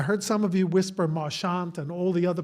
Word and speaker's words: Marchant: I was told by a family member about eight years ago that it's merchant. So I'm going to keep saying March and everybody else is going to correct me, but that's okay. It may be Marant at this point, but I I think originally he dropped the French pronunciation to sound more American.